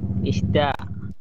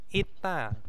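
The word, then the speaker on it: 있다: Isda. Ita, bukan Isda ya. Ita ya bacanya.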